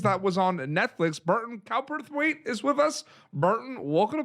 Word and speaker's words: Cowperthwaite: tiny pretty things that was on netflix burton cowperthwaite is with us martin welcome to pop territory